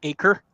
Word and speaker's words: Acer: sorry I'm weird I am there we go Acer hey came up sweet it's pronounced acre that's randomly weird but okay sweet so I